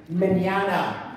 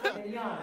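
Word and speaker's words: Mignogna: I say it that way because nobody knows how to say it. I bet I got 5 people come up and go, "Hi, I love your work. How do you say your last name?" Mignana. It's much easier than it looks.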